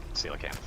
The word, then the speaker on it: coelacanth: Yep, coelacanth. That's also why I know how to pronounce it.